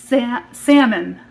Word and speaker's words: Samen: ended up finding a pattern called salmon it's not like the fish it's spelled s-a-m-e-n and i'll pop a